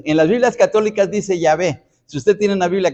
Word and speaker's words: Jehová: de tal manera que la pronunciación español espñola para nosotros Jehová no es la pronunciación correcta nosotros nosotros nos guiamos por esa pronunciación pero propiamente Se ha perdido en la historia la verdadera pronunciación en las Biblias católicas